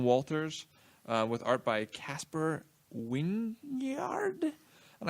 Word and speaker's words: Wijngaard: with art by Casper Wynyard. And I say it like that because it is Wijngaard.